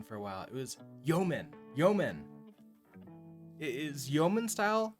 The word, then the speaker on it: Yeoman: was like node you you man but it's pronounced Yeoman uh template let's see if we can find